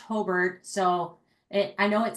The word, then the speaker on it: Hobart: Um and um it's it's pronounced Hbert, so it I know it sounds like it's would be Hobart, but I'd have to correct that or the Brickies would not be happy with me.